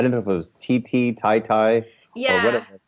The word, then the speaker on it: Titi: Yeah, so it's Titi, but my grandfather just decided that he felt like being different. And so I was pronouncing it Tai Tai for about 28, 29 years, and then my dad told me that we've been pronouncing it wrong as a whole family.